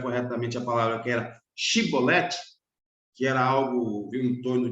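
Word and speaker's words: shibboleth: Se ele dissesse cibolete, sem conseguir pronunciar corretamente a palavra que era chibolete, que era algo em torno de espiga de milho, né?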